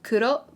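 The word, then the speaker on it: クロ: whose name is Kuro if I were to pronounce his name the proper way because it is a Japanese word it's a Japanese word for black I would say um Kuro but uh just feels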